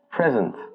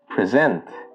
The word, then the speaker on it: present: But if you're using the verb form of this word, you'd pronounce it as present. For example, the researchers will present their findings tomorrow.